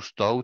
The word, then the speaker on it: stout: catégorie ce qu'on appelle les stout tout ou stout si on prononce à l'anglaise et pas dans la